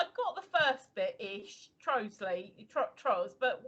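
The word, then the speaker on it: Trottiscliffe: Trosley.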